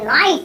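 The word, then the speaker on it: knight: खड़ी हुई है एंड और जब भी के बाद एन हो तो केस साइलेंट ही होता है तो इसीलिए ये ऐसे नहीं बोलेंगे इसे की नाइट इसे बोलेंगे नाइट ऐसे ही है नो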